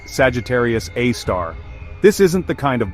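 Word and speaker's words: Sagittarius A*: Pronounced Sagittarius A star.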